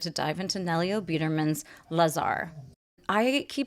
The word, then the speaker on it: Lazar: In Hungarian, you say Lazar, but I'm just going to go ahead with Lazar.